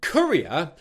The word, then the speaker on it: courier: Now let's move to Courier, which is a little different but still quite similar. The first syllable of Courier is the K sound again, but this time you've got an vowel sound where your lips are rounded.